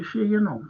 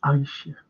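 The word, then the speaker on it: Ayshea: And I was calling her Aisha, She said it's pronounce my name correctly. I went, oh. She said, it's Aisha.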